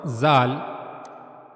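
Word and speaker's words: ذال: As you can see in this picture for pronouncing zal correctly you have to use the top of your tongue top of the tip of the tongue and it will meet to the edges of the two top front teeth.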